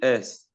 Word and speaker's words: est: Il est. Il est. Okay. That the S is not pronounced. Il est.